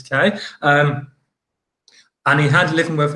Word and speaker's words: Quay: there, or Quay Street, as it should be said, Quay, but been pronounced as K.